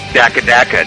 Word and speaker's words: DakkaDakka: It's pronounced Daka Daka, damn it.